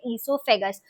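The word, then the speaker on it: oesophagus: उसके बाद यहां से लेके पेट तक एक पाइप होता है जिसको बोला जाता है इससोफेगस। स्पेलिंग होती है ओ ई नाम इससोफेगस है स्टार्ट ओ से होता है तो ओ ई एस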